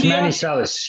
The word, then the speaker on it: Manizales: Please forgive me if I mispronounce your hometown, Manizales. Yes, Manizales.